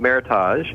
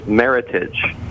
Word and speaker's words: Meritage: It's not it's not meage, it's meritage. It rhymes with heritage.